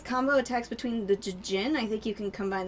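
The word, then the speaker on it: Djinn: I think you can combine the Dijin, but I might be thinking of something else. Or the Jin. The Dijin. I don't know. They're tiny little spritey Jin. babies. It's Jin. Okay. The D is silent.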